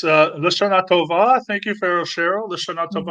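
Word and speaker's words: L'Shana Tova: And our friend Pharaoh Cheryl says, how do you pronounce that? It's Lashana Tova.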